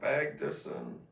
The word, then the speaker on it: Bagdasarian: You pronounce that? Bagdasarian.